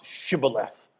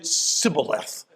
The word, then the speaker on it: shibboleth: for some strange reason the ephraimites could not pronounce shibboleth they pronounced it sybileth they couldn't get the h they had a speech